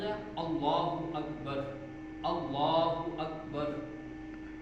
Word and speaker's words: اللہ اکبر: اللہ اکبر، اللہ اکبر۔ اکبر کے اندر بھی 2 غلطیاں کرتے ہیں، وہ کون سی؟ ایک اکبر، حمزہ کو لمبا کر دیتے، اکبر، اللہ اکبر، اور دوسری غلطی اکبر میں جو کرتے ہیں وہ اللہ اکبر، با کو لمبا کر دیتے ہیں، یہ بھی نہیں ہونی چاہیے۔ اصل تلفظ کیا ہے؟